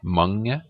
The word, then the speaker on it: mange: Notice how the G, it's not mange, it's not mange, it's mange lang.